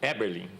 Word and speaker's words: Eberlin: Marcos É Eberlin ou Eberlin? Eberlin. Eberlin. Tá.